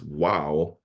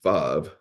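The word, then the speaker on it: וָו: It's written as wow, but it is pronounced vav.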